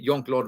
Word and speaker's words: Jean-Claude: that is one Mr Jean-Claude Van Damme or as I was told by somebody who was raised and uh born and raised from in Belgium you pronounce it young Claude Van Damme if you guys want